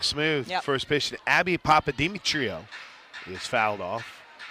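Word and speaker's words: Papadimitriou: It's spelled like it's s it sounds like it's spelled.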